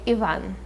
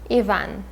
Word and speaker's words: Ivan: in the story is the homeless ivan i guess you would say in english and in russian we will say ivan ivan the next character we